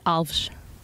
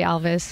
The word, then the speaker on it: Alves: We actually say Alves. Oh, really? But because no one can say it, I always say Alves. I'll try. I'll give it a try. Alves.